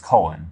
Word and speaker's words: colon: Colin right here okay of course it's not pronounced Colin it's colon obviously but uh because you